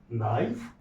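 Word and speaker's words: knife: जैसे कि एन आई एफ ई, नाइफ, यहाँ पे साइलेंट है, ये कभी और चर्चा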